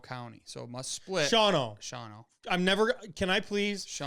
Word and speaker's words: Shawano: Shawano. I'm never. Can I please? Shawano. I have to do this to you every time you bring up the word Shawano. It's not Shino.